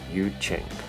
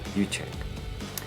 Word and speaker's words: Yu Jing: the other great nation, is the Yu Jing, pronounced Yu Cheng. There you go, I've been saying it wrong. Yu Cheng.